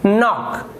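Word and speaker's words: knock: यहाँ पर भी जो के है वो यहाँ पर साइलेंट है, देखिए जो के है वो साइलेंट है। तो अब आप इसे क्या पढ़ेंगे, के को आप छोड़ दीजिए। अब देखिए क्या लिखा हुआ है, नॉक, ये लिखा हुआ है नॉक, तो इसे हम नॉक पढ़ेंगे।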